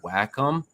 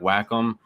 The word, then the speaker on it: Wacom: tablet and rough price it is called the wacom it's it's spelled w a c o m it's called